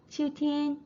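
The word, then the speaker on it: 秋天: 가을과 겨울은 둘 다 일성입니다. 秋天, 冬天, 그래서 봄, 여름, 가을, 겨울에서 여름만 사성이고 나머지는 다 일성이라는 점 체크해 주시면 되겠습니다.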